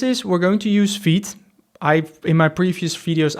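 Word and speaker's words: Vite: This is we're going to use feed. I in my previous videos I announced it as fight but someone me mentioned it's you pronounce it in the French way v I guess maybe I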